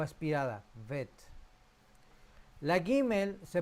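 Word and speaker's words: גימל: La tercera letra, la letra Gimel, se pronuncia suave como en gala o guerra. Gimel.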